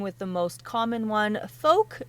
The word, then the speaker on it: Fouke: the most common one folk like poke I was wondering that